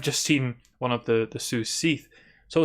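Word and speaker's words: Cat Sìth: something traditionally called the Sioux Seath. You could also pronounce it Sioux Sith, I guess, but it's Gaelic, so I assume it's going to be Sioux Seath.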